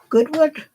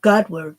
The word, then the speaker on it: Godward: Goodward? Yeah. No, Godward.